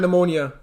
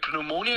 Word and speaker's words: pneumonia: foot fungus cavities and pneumonia uh pneumonia no like pneumonia yeah exactly but you don't pronounce the p in English I think pneumonia